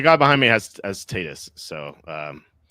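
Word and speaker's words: Tatís: I have Yeah, Schwarber, Tatus, and Donovan or the Tatis if you want to say it correctly.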